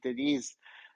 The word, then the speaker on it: Denise: I thought your name was Dennis, and it was only when you said Denise uh that was when you said your name means the sea.